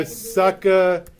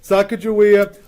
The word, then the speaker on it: Sacagawea: So now, Miranda, you get your Sacagawea, which I think I'm mispronouncing that anyway. Yes. It's a G.